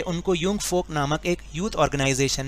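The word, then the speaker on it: Jungvolk: यहाँ पर ये स्पेलिंग कुछ और है, जंग फोक लिखा है, जंग वोक लिखा है, लेकिन इसको हम पढ़ेंगे यूंग फोक। यूंग फोक क्योंकि ये जर्मन वर्ड है इसलिए हम इसको ऐसे ही प्रोनाउंस करते हैं।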